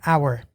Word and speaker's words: hour: way you say it hour the allotment of time an hour is spelled h-o-u-r yes and the h is silent right so it's spelled